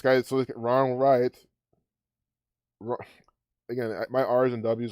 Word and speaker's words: Wright: Ron Wright. This not even, I know you don't even pronounce this W, I know that, but still, I just can't say it.